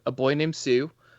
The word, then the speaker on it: Pseu: So I talk about all that stuff on my podcast called A Boy Named Pseu, similar to the Johnny Cash song, but it's spelled Pseu as pseudonym or pseudonymous.